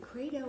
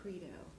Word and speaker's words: credo: real important question so is it kedo or Credo because I've heard everybody pronounces it differently well and and you're not going to get in trouble for pronouncing either way because I use both